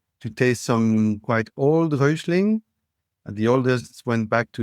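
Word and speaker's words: Räuschling: Come Rosling. How do you spell that?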